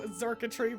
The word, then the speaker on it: Xurkitree: So no, Xurkitree really took a stab at that. Xurkitree is spelled pretty crazy. I think it's just spelled like circuitry, but with an X.